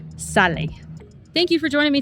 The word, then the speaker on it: sale: It looks like the word sail, but it's pronounced sale.